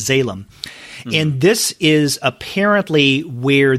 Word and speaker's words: Zalem: And in this first volume, it is spelled Zalem. It sounds, I guess, a little like Salem, but it's Salem.